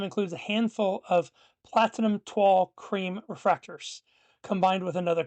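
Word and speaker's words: toile: But the proper pronunciation is twill like t w a h l not toil, not toily.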